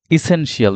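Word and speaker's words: essential: next word সেটা হচ্ছে ইসেনশিয়াল দেখেন ইসেনশিয়াল আমরা এটাকে আসলে ইসেনশিয়াল বলি ইংলিশের যে ওয়ার্ডগুলোর ক্ষেত্রে আমরা এসেনশিয়াল বেনিফিশিয়াল অর্থাৎ শিয়াল আছে এই শিয়াল যুক্ত ওয়ার্ডগুলো আসলে শিয়াল হবে না সল হয়ে যাবে যেটা আমি এখানে দেখিয়েছি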